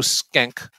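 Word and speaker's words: Schenck: produced the film joe skenk uh it's it's not spelled like that but i believe that's how it's pronounced uh was um one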